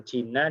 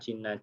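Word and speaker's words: جِنّ: Ya, kiai saya biasanya mencontohkan antara jannah, ya, kemudian jina dan juna. ya, jana surga, jina jin, juna itu perisai, ya. Jadi beda harokat itu akan menunjukkan juga beda makna.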